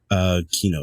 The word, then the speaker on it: Kino: Kino, yeah, because that's the way he's kind of spelled it out so that people could say it better.